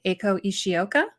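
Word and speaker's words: Eiko Ishioka: AO I hope I say her name right acho isoka yes that's right is that correct Okay so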